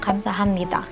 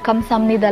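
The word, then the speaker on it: 감사합니다: Bakit po yung word na kamsahamnida, kamsahamnida na lang siya i-pronounce? Siguro nga dun mo lang talaga siya naririnig pero pronounce talaga siya ng kamsahamnida. Mabilis lang kasi magsalita yung native Korean speakers. Kaya kamsamnida lang siya kung marinig.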